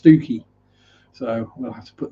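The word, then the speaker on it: Stiffkey: talking about stifky marshes which is not pronounced stiff key this spell stiff key but it's pronounced stuki so we'll have to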